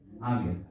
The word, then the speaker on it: Abías: Y el nombre de su segundo fue, a ver si lo pronuncio bien, Abía. ¿Me ayuda? Abías, gracias.